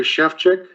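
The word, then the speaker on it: Sefcsik: and address please yes my name is chefchick i'm in i'm at 1751.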